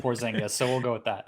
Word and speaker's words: Porzingis: you're flipping porzingis off you said it right when you said poor zynga so we'll go with